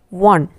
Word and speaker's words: one: Instead, it is W, one.